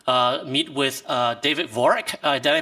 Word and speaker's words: Vorick: for us to uh meet with uh david vorak did i pronounce his name correctly yeah that's correct all